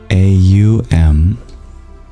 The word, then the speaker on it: Aum: Which is written A-U-M. And that's pronounced Aum. The O separates into its guttural and labial components, and that represents Trinity.